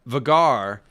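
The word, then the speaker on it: Vhagar: thing um that uh vegar is correct vegar is the correct way to say it um i will not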